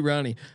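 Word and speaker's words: Rahne: to know how to screen up some Ricky Ronnie uh um uh how do you r-a-h-n-e do you pronounce it yeah Sean we're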